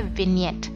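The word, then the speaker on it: vignette: यहाँ पर नीचे एक और ऑप्शन है जो है विनियट। ये जो जी है ये साइलेंट होता है।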